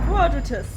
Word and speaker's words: Quadratus: empty stomach right now it should be in the wiki like quadratus yeah quadratus quadratus okay i was pronouncing it i was i had a feeling i wasn't saying it properly you know i know